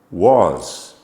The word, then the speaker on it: was: Was, past tense verb form. Was, W-A-S, sounds like, and in fact is a short O sound, not an A sound.